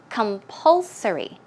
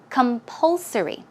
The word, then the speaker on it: compulsory: Let's check out how to pronounce it. Okay, the stress goes right there. So it's compulsory. Compulsory.